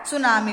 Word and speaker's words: tsunami: टी यहाँ पर silent रहेगा, सुनामी।